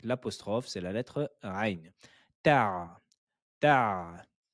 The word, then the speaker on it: تع: Ta, ta. Ne dites pas teh ou teh, mais c'est ta.